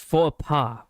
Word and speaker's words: faux pas: It's pronounced faux pas.